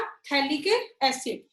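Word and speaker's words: phthalic: यहाँ पे P और H साइलेंट है, कॉमन नेम क्या है इसका, थैलिक एसिड।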